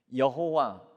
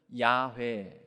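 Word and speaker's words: יהוה: 먹어 버렸습니다 유추하기 는 이 자음 히브리어 자음으로 이루어진 스스로 있는 자 라는 뜻을 가진 하나님의 이름이 여호와 또는 야외에 라고 발음할 수 있을 것이다 그래서 여러분 우리가 하나님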